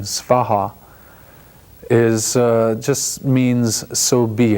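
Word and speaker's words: svāhā: And ye is just a grammatical expression, and soha, or in the Sanskrit pronunciation svaha, is just means so be it, or let it happen.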